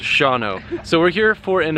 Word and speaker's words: Shawano: we are in shano Wisconsin which you guys have thankfully told me is pronounced Shao so we're here for